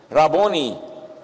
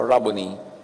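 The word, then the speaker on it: rabboni: John 2016 humarap siya at kanyang sinabi raboni or guro. Yung mga Amerikano sabi nila, rabon. Pero that's an Americanized pronunciation. A Hebrew word walang long eye. So rabony.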